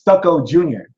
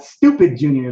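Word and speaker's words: Stuka Jr.: pronounce the name correctly it's stucko JR not stupid Jor like I told y'all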